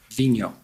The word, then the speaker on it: Vigneault: We've all been debating about how to pronounce it properly. Vigneault.